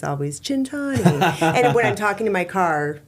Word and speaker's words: Centanni: you do the a but in Italy it's chintani. Cintani and that means 100 years of good luck. So, when we're cheersing, it's always chintani.